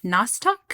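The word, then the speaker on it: Nostoc: said the meat shower was actually a n-o-s-t-o-c nostalk no shower okay about i'm about to mispronounce another word oh perfect nostalk is a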